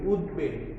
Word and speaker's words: উদ্বেগ: যেমন উদ্বেগ, দেখো আমরা এখানে উ দ উদ আর বটাকে আমরা যদি একার দিয়ে উচ্চারণ করি, ব একা ল, তাহলে কি হবে? উদ্বেগ।